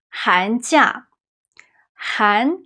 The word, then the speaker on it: 寒假: But when it means holiday or vacation, it's a falling tone, the fourth tone is 假.